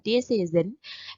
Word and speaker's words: decision: Di sini yang membedakan, nah ini bacanya tadi adalah Z ya teman-teman. Jadi bacanya adalah decision.